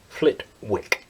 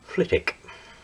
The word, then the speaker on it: Flitwick: it says leaning dairies flit wick now that's what it says flip with but that's in bedfordshire england and it's not pronounced flitwick it's pronounced flitik i found that one